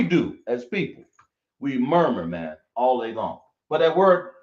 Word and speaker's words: manna: But people spell it manna, but it's really mana. That's how it's pronounced.